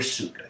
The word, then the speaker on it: sukha: Sukha, the sugary energy, the easeful energy. It sounds like the word for sugar, azúcar in Spanish, sucre in French.